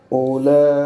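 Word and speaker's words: أولئك: उलाइका ये बात पूरी करो ना। उलाइका उंगलियों को ऊपर। ये बच्चों इसमें वाव साइलेंट है और हमजा के ऊपर ये जो या का शोशा बना है ये वाला साइलेंट।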